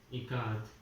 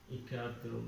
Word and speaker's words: Ikat: So Janaki teacher said it is pronounced I as in it, Ka as Kamala, and T is T as TH, Tha in both here.